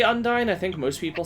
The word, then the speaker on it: Undyne: I think it's supposed to rhyme with undying.